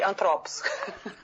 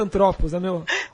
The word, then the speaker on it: Anthropos: Antropos. A pronúncia certa, Antropos.